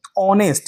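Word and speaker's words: honest: Start हो रही है, ऑनेस्ट, यानी वो क्या है, एक वॉवेल है। तो यहाँ पर जो एच है ना वो आपका साइलेंट है, एच क्या है यहाँ पे साइलेंट है, पढ़ेंगे इसको ऑनेस्ट यानी ईमानदार जो होता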